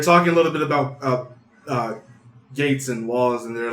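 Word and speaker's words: Geiz: He says Gates, not Gaze.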